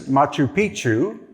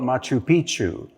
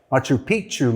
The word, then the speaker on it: Machu Picchu: So, here you see this is Machu Picchu and that's the correct pronunciation. Most people call it Machu Picchu. But when you say Machu Picchu, that means ancient penis in the Inca language. Machu Picchu means ancient mountain.